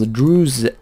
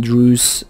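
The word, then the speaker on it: Druze: was planning to abuse that to get some Drew uh Rebels and I kept pronouncing it Dre because that's how it's spelled but I was informed that it is not Dre it is Drew so there you are also our capital is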